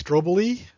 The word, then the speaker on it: strobili: these are the ovulate strobili that's the plural singular is strobilus i've heard steve mckeon call these stroboly they're pronounced one way or the other uh steve is likely